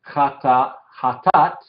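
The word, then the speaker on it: חטאת: Vemos aquí esta aleph no tiene vocal. Entonces se dice que es inactiva y no se toma en cuenta ni dividiendo ni pronunciando. No hay vocal para pronunciar. Entonces es tat, ja, tat. Entonces la segunda sílaba sería todo esto, tat, la tet, la kametz, se salta la alef y la tau cierra la sílaba, ¿sí? Jatat, la alef inactiva.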